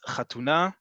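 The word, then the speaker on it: חתונה: Wedding is chatuna. Again, this is one of those words that if you are coming from a very Ashkenazi background, you may not pronounce it the same way we do in modern Hebrew in Israel.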